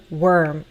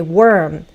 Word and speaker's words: worm: The first one, OR sounds like ER, like my name, worm, or like a fur coat.